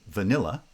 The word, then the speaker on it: vanilla: it aroma or vanilla in vanilla there are two light syllables still the first one is the strong syllable so it gets stressed and we get vanilla